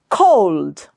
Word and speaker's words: cold: Cold, cold. Again, just watch for the O sound, how much I am rounding my lips.